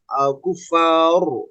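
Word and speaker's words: الكفار: Nanti ketika berhenti pada kufar ya, atau kazaurin, kazaur, nah itu ro-nya kurang tebal.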